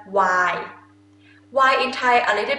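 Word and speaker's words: ไวน์: Okay, and wine is why, why? Not really put N sound at the end, just why.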